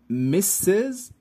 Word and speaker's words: Mrs.: not men but women so we have miss misses and miz the first one miss miss refers